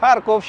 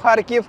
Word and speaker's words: Kharkiv: Kharkiv is pronounced in Russian and as long as I am in the territory of Ukraine I will pronounce it as the people here pronounce it.